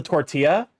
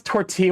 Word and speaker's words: tortilla: your own risk well you don't pronounce tortilla with the L's no no you did